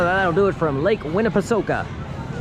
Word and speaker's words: Winnepesaukah: So that'll do it from Lake Winnipeoka. And I asked that is the correct pronunciation. Winnipeoka.